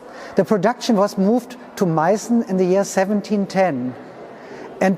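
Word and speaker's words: Meißen: address the name confusion you hear the term mycen porcelain but sometimes also dressed in china now both the town and the porcelain are called maison but while the town is spelled with an s-set a letter unique to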